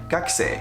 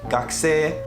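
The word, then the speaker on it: 学生: He said, for example, the words gakusei, you cannot pronounce it like gakusei. It's not supposed to go down, it's supposed to stay in one line. So gakusei.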